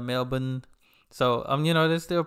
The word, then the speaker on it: Melbourne: the cultivated too, because when she pronounced Melbourne, she pronounced it the right way versus American way, which I was saying, if I look at it, I'll say Melbourne instead of Melbourne.